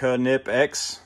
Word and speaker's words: Knipex: little card from them showing you how it's pronounced nip x uh i had a hard time at the beginning of that i used to always call them nipix but i've learned different